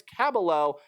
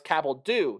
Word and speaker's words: Cabaldo: That is Bryce Cabaldo, not Caballo.